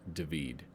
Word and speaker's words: David: the death of marat by david spelled david pronounced david so we have artists working in spain england